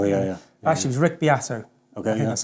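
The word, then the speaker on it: Beato: seven so oh yeah yeah actually was rick biato okay that's how you say his name um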